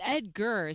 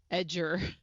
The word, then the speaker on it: Edgar: up Edgar oh it's Edgar see I said it wrong I said your name completely wrong hey Li what did you you said edge something I I said edger not Edgar I was like wait